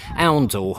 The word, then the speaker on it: Oundle: So the other piece of information I had was from somebody who watched my video of Oundle to tell me that it's actually pronounced Oundle.